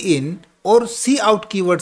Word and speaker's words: cout: कुछ बच्चे सी आउट को काउट भी बोलते हैं, हम भी पहले काउट बोलते थे, बट एक्चुअल प्रोनाउंसिएशन इसका सी आउट होता है ना।